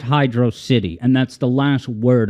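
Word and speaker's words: Hydrocity: doing it and I'm going to continue pronouncing it Hydro City that's kind of a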